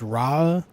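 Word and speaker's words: Rauh: Ro? I feel like Ro because AU is often pronounced O.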